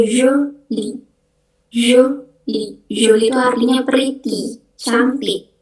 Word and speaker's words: jolie: Terus yang kedua ada jolie, itu bacanya jolie.